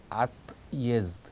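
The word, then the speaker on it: отъезд: 그래서 분리를 하면 발음이 at jest, at jest. 물론 그걸 발음할 때는 이제 연결해서 읽어야 되겠지만 연결을 예와 직접 시키지 않고 분리해서 빨리 읽는다는 뜻입니다. 그래서 at jest, at jest 이렇게 읽는다는 뜻입니다.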